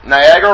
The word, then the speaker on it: Niagara: So, Niagara Falls, Niagara rhymes with Viagra.